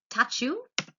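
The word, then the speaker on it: tchau: on top of it goodbye they would pronounce as touch you for music is musica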